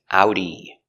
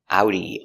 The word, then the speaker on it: Audi: We pronounce it with the German pronunciation similar to German. Audi. Let's take a closer look at the pronunciation pronunciation of Audi. Ow. Ow. Remember the sound is two sounds. It's a like apple and oo like boot.